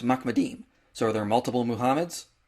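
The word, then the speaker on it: מחמדים: The way you pronounce this word is Mahmed. And this passage is plural, so it's Mahmedim.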